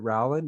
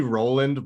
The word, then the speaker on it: Rowland: i get it right is it rowland is that how you would pronounce it it's actually roland but everyone made that mistake there we go that's